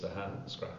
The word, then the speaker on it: Ahascragh: Well, it's just exactly how it is without the GH at the end. Just say it as it is without the GH. Three syllables, Ahascragh.